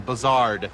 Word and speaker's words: Buzzard: They sometimes will pronounce it with the French inflection, Buzzard, because, yeah.